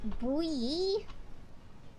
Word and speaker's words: buoy: Buy boy. That's a weird word. Why can't I pronounce it as boy? Buoy buoy.